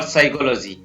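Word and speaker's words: psychology: जैसे PN साथ में हो तो PN या PS से शुरू हो रहा है कोई शब्द तो उसमें P है वो साइलेंट रहता है, तो यहाँ पर इसको पढ़ेंगे न्यूमोनिया और साइकोलॉजी, इन दोनों में P है वो साइलेंट रहता है।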